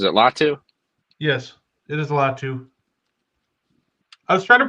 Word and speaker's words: Latu: yes, it is Latu. I was trying to pronounce his first name, but I think they'll go Latu edge.